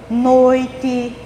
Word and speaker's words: noite: Exemplos da palavra quente, noite, pente. Veja que essas palavras se escrevem com E no final, mas a gente pronuncia com I.